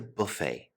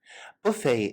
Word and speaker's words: buffet: probably my favorite the buffet buffet is a French word in origin so we do not pronounce the T Buffet buffets generally have